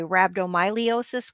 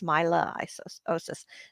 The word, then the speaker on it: rhabdomyolysis: Myelosis. And I always say ly, I say lee. So I say rhabdomyolysis, but that's not correct. It's myelosis.